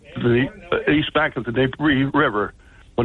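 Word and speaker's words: Dnieper: of the Nei River the D is not pronounced it's Nei or nepro river okay the only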